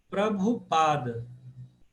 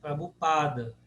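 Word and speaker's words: Prabhupāda: Prabhupada. Paroxítona. Penúltima sílaba. Pada, né? Prabhupada.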